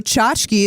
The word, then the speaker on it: tchotchke: You're just like clickers aren't real and also chachki is the is the right way to say it.